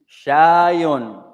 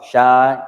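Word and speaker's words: شاي: If you don't pronounce the vowels, if you stop on the last letter, or you pronounce the last vowel, it's the same meaning.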